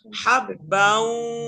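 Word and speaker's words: حَبًّا: হাব্বাউ হাব্বাউ ওয়া নাবাতা, হ্যাঁ হাসিব ভাই, হাব্বা এরকম কেন হচ্ছে? হাব্বাউ তাড়াতাড়ি, হাব্বাউ বাউ হাব্বাউ, এরকম হয়ে হয়ে যাচ্ছে কেন? তাড়াতাড়ি ধরতে হবে, হাব্বাউ তানবিনের উচ্চারণ তাড়াতাড়ি করতে হয়।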